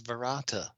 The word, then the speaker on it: verata: quick about Cloud 2 barata Nick to uh apparently this I'm like looking at this on IMDb it's a slight variation pronounces the second word is verata apparently this is intentional